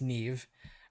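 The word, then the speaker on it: Niamh: I had to look this up how to pronounce it because I was definitely getting it wrong in my head it's not neam it's Neeve uh I'm not not Irish I think I'm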